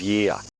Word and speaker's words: year: Again, he replaces the R sound with the schwa sound.